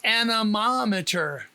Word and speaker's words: anemometer: The emphasis is on the first syllable of Mama, so it's anemometer.